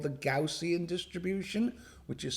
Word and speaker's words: Gaussian: sometimes hear called the gaussian distribution which is sometimes pronounced quotient distribution which makes it even more confusing is perhaps the most